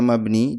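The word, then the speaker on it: مبني: Jadi ada mabni, ini bacanya mabni, dan ini bacanya mu'rab, ya.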